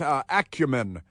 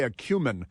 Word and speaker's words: acumen: her brilliant stock market acumen. You might say acumen. Some pronounce it acumen, ACC, like accurate and all that stuff.